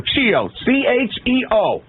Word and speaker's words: Chio: Cheo is how you pronounce it. Long E, long O.